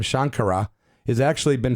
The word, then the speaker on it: Shankara: And Shankara is more like a Western pronunciation, and that's cool. There's no one's going to strike me down for pronouncing it wrong, but certainly the respect is there for me. Shankara is the more of the pronunciation that's the Eastern pronunciation.